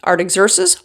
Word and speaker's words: Artaxerxes: After fasting and praying before God for some days it says, Nehemiah went before the king of Persia, Artaxerxes, with a plan.